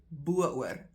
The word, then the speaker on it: bo-oor: If you want to accentuate the fact that you are going over the top, you say bo-oor. Spelled like that.